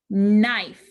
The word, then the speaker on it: knife: There are two letters making the n sound. What are the two letters? K-N. Very good. K-N says n.